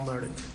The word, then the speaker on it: Murdaugh: How does the man himself pronounce his last name? Murdaugh. Murdaugh. Right. Murdaugh, right? It's like a low country speak.